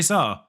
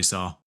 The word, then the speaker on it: Sá: It went straight to Jose Sá, or Jose Sá. I think you pronounce the J in Portuguese.